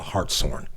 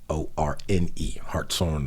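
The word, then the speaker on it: Hartshorne: is 15 miles from macalester which is called heartsorn okay and it's spelled h-a-r-t-s-h-o-r-n-e hearts on the hearts on miners um she grew up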